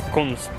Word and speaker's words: Kunst: One is for the nature and the other one is for something in German that is pronounced Kunst.